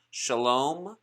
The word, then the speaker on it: shalom: c a closed syllable as in shalom shalom translated cha lom that is from the